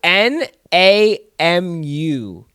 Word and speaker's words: Namu: is it an Emirates okay so it's n a m u h n n a m u so namu I'll see I thought it was uh it's like Shamu yeah but yeah how